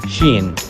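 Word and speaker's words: شين: Sheen. It sounds as sha in English.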